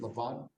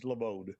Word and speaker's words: Laval: That's Javier Martinez and Laval. I'm sorry if I said your name wrong, but is it Lavad? Is that right? How it's Labode.